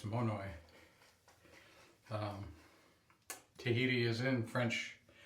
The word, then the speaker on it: Monoi: And that is Monoy. I I thought I was certain that it would be pronounced Monoa, but it's not. It's Monoy.